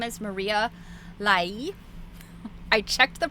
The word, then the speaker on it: Maria Lai: Her name is Maria Lai. I checked the pronunciation.